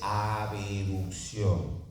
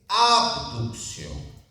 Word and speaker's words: abducción: Recuerden ustedes que no se dice abeducción, no se dice abeducción, se dice abducción.